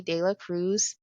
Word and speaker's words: De La Cruz: So, today I am so excited to introduce you all to Heidi Dea Cruz. Did I pronounce that last name correct?